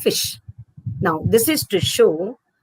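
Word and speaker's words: ghoti: of nation sh sh then you see goti would become D of enough o of women t i of nation goti would actually be a fish now this is to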